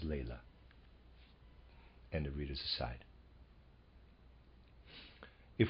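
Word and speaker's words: Laila: and Lea readers aside I'm pronouncing l a i l a as Lea and the readers aside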